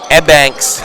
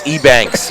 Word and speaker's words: Ebanks: you pronounce name because one thing I don't want anybody saying and banks when it's Ebanks you know what I